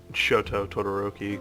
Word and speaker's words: Shoto Todoroki: Then we have Shoto Todoroki, which is Tsuko?